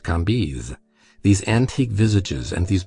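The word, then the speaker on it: Cambis: was pronounced Lei KES c a m b i s pronounced kiz these antique visages and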